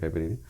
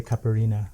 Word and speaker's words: caipirinha: And I like how you pronounce it because I think I'm saying it wrong. Caipirinha? I always say caipirina. Oh, that's the most common way.